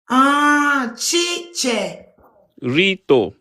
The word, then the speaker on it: Chicherito: Chiche. Chiche. Rito. Chicherito.